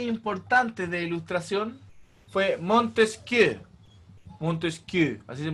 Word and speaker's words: Montesquieu: Montesquieu, así se pronuncia.